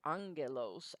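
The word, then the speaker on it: ἄγγελος: note one is that if you have two gammas in a row they're not pronounced just as G but as ng so this is where we get the word angel from comes from the Greek word Angello's alpha gamma gamma so that double gamma becomes an NG sound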